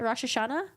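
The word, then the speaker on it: Rosh Hashanah: I hope you guys have a good one rashash Shana rashash Shana rashash Shana oh is that how you pronounce it rashash Shana okay good to know thank you all right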